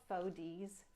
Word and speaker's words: Fodeez: These are called Faux D's frames. I got them off of Amazon, and I can give you a link if you're interested, but it's spelled Fodeez.